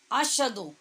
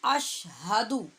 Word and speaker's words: اشہدو: اشہدو یہ سخت غلط تلفظ ہوگا، اس کو ہم پڑھیں گے اشہدو. یہ موٹی والی ہا ہے، اشہدو. ہا اور شین علیحدہ علیحدہ کر کے پڑھیں گے.